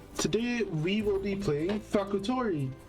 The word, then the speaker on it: Fakutori: Today we will be playing Faktorii. Well, Factory, but it's spelled Fakutori, I guess.